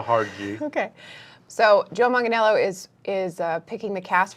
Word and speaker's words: Manganiello: Manganiello are you serious that's it Manganiello Manganiello okay so it's like it's like jello and manga I can remember that